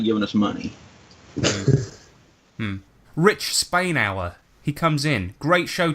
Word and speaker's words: Spainhour: It's pronounced like the country and the time period, because last episode we kept calling him Spanur.